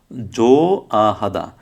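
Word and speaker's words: 좋아하다: তাহলে কি হবে, জো আহাদা, জো আহাদা অর্থ হচ্ছে পছন্দ করা। সেম খোয়েন সানাইও, খোয়েন সানাইও, এখানে হিউতের উচ্চারণটা হয় নাই, কারণ হিউতের পর কি আসছে, ইয়ং আসছে।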